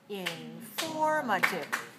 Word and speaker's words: informative: response is informative informative informative syllable stress code informative four syllables where's the stress second right 4 two so please look at